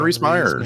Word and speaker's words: Rhys Meyers: Freaking John Rhys Meyers.